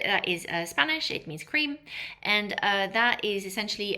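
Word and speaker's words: craie: So now we have a color cre that's pronounced cre.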